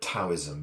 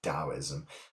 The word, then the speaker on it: Taoism: in Taoism, is and some people do still call it Taoism because that's how it's written, but they don't realize it's actually supposed to be pronounced Taoism. And in that letter, there is a D and a T kind of implied at the same time, so that's where the kind of the confusion comes in.